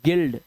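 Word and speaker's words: guild: यू को silent करते हैं। इसे पढ़ते हैं गार्ड। ठीक है? इसे पढ़ते हैं गिल्ड।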